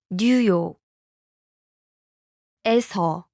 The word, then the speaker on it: 뉴욕에서: Listen to New York and the location marking particle pronounced separately. 뉴욕, New York. 뉴욕. 에서, The location marking particle. 에서. Now listen to the New York followed by the location marking particle. 뉴욕에서, 뉴욕에서. Notice the difference?